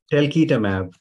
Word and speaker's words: talquetamab: There's the telquatamab. Is that how you say it? Telquitamab.